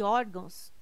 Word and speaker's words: órgãos: correto caráter intransferível e órgãos tem suas sílaba tônica na penúltima sílaba são paroxítonas observação poderia gerar dúvida a palavra órgãos mas ela não termina em ó termina em não se você está cansado